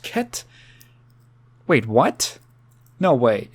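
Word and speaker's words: Cait: sister Duo they're called Kate and Sith no it's KET is how it's supposed to be pronounced KET wait what no way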